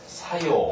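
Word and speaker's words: 作用: 물론 이외에도 여러 가지가 많습니다만 이처럼 작자를 사그라고 발음하지 않고 여기서 사교, 그 다음에 작용은 사요, 그 다음 발작은 헛사, 그 다음 조작은 소사. 이처럼 이런 작자를 전부 다 사라고 읽는 점에 아주 조심하시고요.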